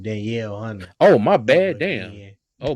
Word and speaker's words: Danielle Hunter: out real quick because I don't want the uh the Neil Hunter to hear you pronounce his name Danielle Hunter oh my bad damn